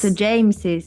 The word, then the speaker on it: James's: And you pronounce James phone, for James's. example. You pronounce James's phone.